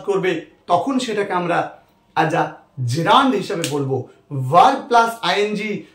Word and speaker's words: gerund: আমরা জেরান্ড শব্দটা পড়বো এর উচ্চারণটা কিন্তু জেরান্ড এই জেরান্ড শব্দটা কাকে